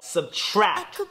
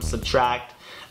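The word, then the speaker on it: SBTRKT: Subtract, that's spelled S-B-T-R-K-T.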